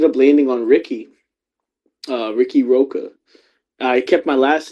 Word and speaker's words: Riqui Roqua: Uh, Ricky Roka. I kept my last name. And I was like, I want to spell it different though cuz like there's Ricky Starks.